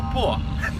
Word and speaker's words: poor: So, British ways, British English, like a poor, or I don't have any money. Say it. Poor. Poor. And like if I have this is cup and this one Poor. and thank you and dog's palm. Poor. It's the same pronunciation, right?